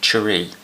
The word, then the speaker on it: Churi: I've got a review of the, I believe it's pronounced Churi, which means knife in Nepalese. It's spelled Churi.